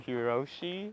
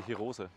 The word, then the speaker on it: Hirose: The funniest thing is the Germans say Hirose.